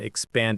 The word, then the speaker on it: expand: 2 syllables, stress on the second one.